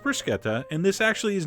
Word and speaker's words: bruschetta: bruschetta mandu they hate that but it is pronounced bruschetta and this actually is not a true bruschetta